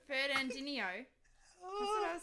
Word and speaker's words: Fernandinho: Fernandino. How do you say it? Fernandinho. Fernandinho.